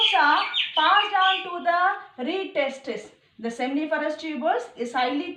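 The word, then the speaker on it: rete testis: So this accessory duct, it consists of reed testis. TE is silent. You have to pronounce it as a reed testis.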